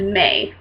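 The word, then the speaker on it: Mei: The fourth one that I really like, that comes from me watching anime, is May. But not like M-A-Y, like we would spell it in America. M-E-I, the Japanese way, because it's so pretty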